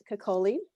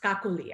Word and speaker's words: Kakali: there for us um so coley it's kakouli actually cockley there we go thank